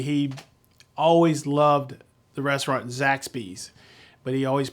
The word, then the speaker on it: Zaxby's: He always loved the restaurant Zaxby's, but he always pronounced it Zaxby's.